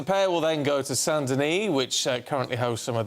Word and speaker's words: Saint-Denis: Saint-Denis.